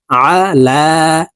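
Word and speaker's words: عَلَى: আলা আল্লাহুম্মা সাল্লি আলা আইনকে হালুকের মধ্যখান থেকে চাপ দিয়ে উচ্চারণ করতে হবে কারণ আইনের মাখরাজ হালুকের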